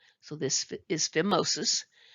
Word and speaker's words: phimosis: uh filmosis and note here the pH is pronounced as an F so this is phimosis It's a tightness of the purpose of the